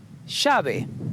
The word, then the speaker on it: llave: Llave, key.